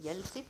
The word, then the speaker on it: ELSIF: Remember that here else if actually we are pronouncing it as a else if, but the spelling is ELSIF in the VHDL.